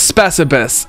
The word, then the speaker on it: Specibus: Oh, it is Specibus.